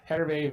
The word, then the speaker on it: Hervé: Yeah, Hervé Villages. Villachez. I knew it was Hervé. I couldn't remember. Hervé or... I think the H is silent, but I knew it was Villa something.